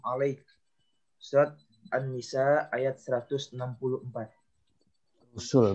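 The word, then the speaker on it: رُسُل: Wa rasulan qad qasasnahum 'alaika min qabl wa rasulan lam naqsushum 'alaik. Surat An-Nisa ayat 164. Rusul bacanya bukan rasul ya.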